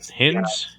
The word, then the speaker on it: Hinds: Ciaran Yeah, Hinds. around. Yeah. Like Heinz hints.